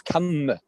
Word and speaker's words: kamma: I'm saying the correct Pali pronunciation is, as you say, with a short A.